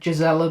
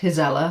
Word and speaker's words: Gisela: I said Gisela before, but I think it's pronounced Gisela, so sorry about that.